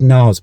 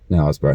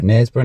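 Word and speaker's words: Knaresborough: I think it's called Nars. Are we saying that correctly? It looks like Nars, doesn't it? We'll look it up. Nasbra. Nesbra. Nasbra.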